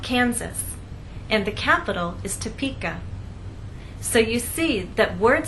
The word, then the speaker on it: Topeka: kin or ken so we do not say toppika Kansas the correct pronunciation is Topeka Kansas get it exercise to listen to the